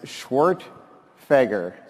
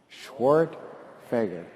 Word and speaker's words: Schwerdtfeger: for anyone who's curious the right way to pronounce it is schwart fager come on do it with me guys schwart fager it's perfect i live